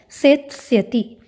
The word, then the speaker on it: सेत्स्यति: उच्चारण में ध्यान देंगे, लृट लकार में उच्चारण होता है सेत्स्यति।